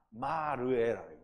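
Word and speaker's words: מראה: 3700번이라 그래서 본다라는 건데 라가 아니라 마르에 마 라인인데요 읽기를 마르라고 읽는 거예요 그래서 이거는 환상으로 보는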